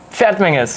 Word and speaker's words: Pferdmenges: you told me yesterday how do you say your last name fat Mingus F Ming it's even difficult for Germans because the ger travel